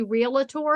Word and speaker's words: realtor: competition dot realtor and you notice I don't say realtor because realtor has two syllables Realtors say it right competition and that's where